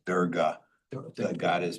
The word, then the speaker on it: Durga: It's pronounced Durga. The god is pronounced Durga, not Durga, so just.